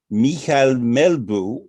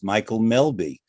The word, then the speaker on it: Mikael Melbye: very very young um i'm going to try to pronounce it with the best danish pronunciation that i can mihal melbu known outside of denmark is michael melby michael is a danish